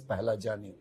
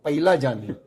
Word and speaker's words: Pahlajani: But somehow the people who hear my surname, they either misspell or mispronounce. I'll give you some example. Somebody call me Pahlajani. Simple. Very simple. I could tolerate that. Somebody used to call me Pailajani. Somebody call me Paglajani.